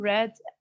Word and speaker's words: read: also we talked about the verb read it can be pronounced as long e as if it is in the present simple i read the book and it can be read if it is the past form of the verb also we talked about